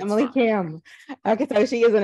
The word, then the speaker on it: Kahm: It's Kahm, but that's pretty Kahm.